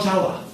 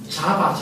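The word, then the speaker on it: Jawa: 커피가 이 인도네시아의 폴라우 자와, 자와섬에서 나온 커피를 마셨습니다. 그런데 그 사람들이 발음을 자와라고 하지 않고 자바 이렇게 읽어봐요.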